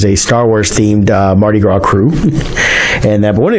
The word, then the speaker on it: Krewe: guess there's a secret society called the Mystic Krewe of Comus which is one of the different cruise they could spell it KR e w e for all these